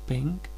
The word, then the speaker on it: PNG: It is best if you have your logo in the PNG pronounced pink format.